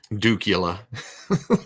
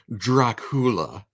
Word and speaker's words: Dracula: three heads isn't there yeah okay even matter duula there's nothing wrong count dookie Count Dracula it's pronounced Dracula I don't think Vincent PR has released yet